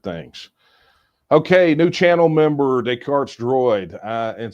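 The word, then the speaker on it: Descartes: Okay, new channel member Daycart's Droid. Uh and see notice I pronounced it correctly because I know I know who Decart is.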